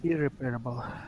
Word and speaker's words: irreparable: Can anybody pronounce this one? Got Irreparable. repairable, unrepairable. Equal? Irreparable. Irreparable.